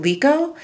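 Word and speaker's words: Mliko: So the top row from left to right, we have, it's spelled M-L-I-K-O, Lico.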